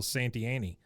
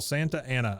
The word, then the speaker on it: Santa Anna: is dressed like General santiani santiani yeah or he's like the only one Santa as he is the only one that pronounces it correctly he says I am General Santa Anna I led the Mexican